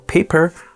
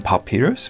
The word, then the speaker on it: Papyr: But yeah, it's supposed to be called paper, but I've been calling it Papyr so much that I'll just continue calling it like that.